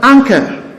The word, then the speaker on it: anchor: Same with this word, anchor. Anchor. Now you see the CH here is pronounced as K, and that is why the N before it is a velar nasal and not an alveolar nasal.